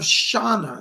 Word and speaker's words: Shauna: She gives me the name of Shauna. She says, I'm Shauna, S-H-A. It's spelled like S-H-A-N-A, but she pronounces Shauna.